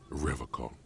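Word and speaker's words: Revachol: He pronounces Revocon with a hard K.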